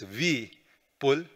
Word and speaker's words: Vipul: pronouns are him and this is the best pronunciation for my name it's V pull and we'll be we'll